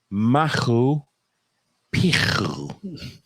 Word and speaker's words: Machu Picchu: is not it's a silent C, so it's Machu Picchu.